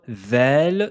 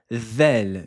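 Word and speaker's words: ذال: La lettre Vel se prononce avec le bout de la langue et elle doit toucher l'extrémité des incisives supérieures. Vous devez sortir la langue et la poser sur les dents du haut. La langue va ressortir légèrement entre les dents.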